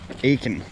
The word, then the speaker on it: Aitkin: Hey, how is it pronounced? Aitkin.